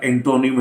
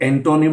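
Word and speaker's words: antonym: ये ओ में प्रोनाउंस नहीं होता। ये आपको फोनेटिक अल्फाबेट में स्वा यानी उल्टा ई जैसा सिंबल इसके लिए मिलता है और ये होता ए। तो ये एंटोनिम नहीं है, दिस इज एंटेनिम।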